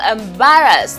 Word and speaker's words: embarrass: And we have embarrass. This is the second to the last syllable.